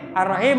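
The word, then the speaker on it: الرحيم: Artinya yang Maha Pengasih lagi merdu suaranya. Ya, ar-rahim. Atau lembut atau wangi di sini. Bisa lembut, bisa wangi, lagi merdu suaranya ar-rahim, pakai kha, ar-rahim, ar-rahim. Maka hati-hati.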